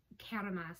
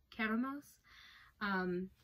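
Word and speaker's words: κέραμος: uh so and i i don't know if i'm pronouncing it right i looked up a video but catamas i think is is is close caramels but this is it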